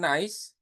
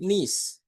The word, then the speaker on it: niece: And then the next, selanjutnya, teman-teman, kalau keponakan perempuan itu dibacanya bukan nice, ya, bukan, tapi niece.